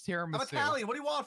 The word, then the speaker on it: tiramisu: Is that how it's actually pronounced? Yeah. Tiramasu. It's tiramisu. Italian. What do you want from it? I'm also Italian. It's tiramisu.